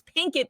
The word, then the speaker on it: Pinkett: name wrong on twitter jada pickett smith is trending instead of pinkit it's pink it people pink it jada pinkett smith in